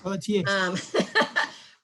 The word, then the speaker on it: Pelletier: I think she pronounces it with the T, but it's a French word as far as I'm concerned. Pelletier.